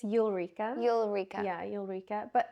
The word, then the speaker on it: Ulrika: So, how do I pronounce her name? Is it Ulrika? It's Ulrika.